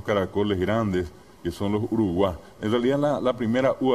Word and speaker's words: Uruguay: llaman maracaná maracaná y verdad o uno dice Uruguay correctamente pronunciado Uruguay que yo le contaba ayer que la terminación